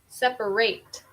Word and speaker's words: separate: Okay, separate. So it sounds different than separate. Okay, so if it's a verb, we are going to put more emphasis on the second syllable. If it's a noun, we are going to put more emphasis on the first syllable.